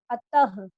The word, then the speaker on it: अतः: इसका जो उच्चारण है वो ह की तरह होता है, अतः, ठीक, ठीक है बेटा।